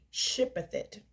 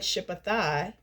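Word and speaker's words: Shibboleth: Please stay. Shipeth it. If he said shipathi because he couldn't pronounce it correctly, they seized him and executed him at the forts of the Jordan.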